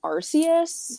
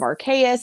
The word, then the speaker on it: Arceus: of Arceus, Legend of Arceus, and I'm like, it's Legend of whatever Pokemon. I just say Arceus. I think that's the more common, I think, most commonly known acceptance in terms of pronunciation.